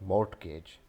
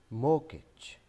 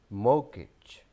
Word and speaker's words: mortgage: This is not mortgage. This is mortgage, mortgage, mortgage.